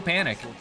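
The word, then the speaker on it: Panik: his name is Joe Panic uh Joe no time to panic uh but it's spelled with a k p a n i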